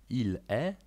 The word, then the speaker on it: il est: On jest, ona jest „il est”, „elle est”. Charakterystyczną cechą jest również to, że usłyszymy wyłącznie literę „e”.